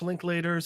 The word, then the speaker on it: Linklater: also the actor depicting this is not Hamish linklater's first time being a bat man oh really